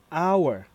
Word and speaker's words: hour: Hour starts with the vowel sound r, h sound is omitted, so we use an hour.